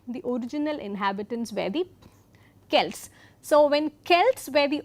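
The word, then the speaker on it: Celts: And this is very interesting because though they uh though the Kelts and some of them interestingly it's also pronounced as Selts but throughout this course we'll be using the pronunciation Celtic.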